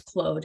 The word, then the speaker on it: Claude: like by the way it's not Claude it's clothed and I'm like I've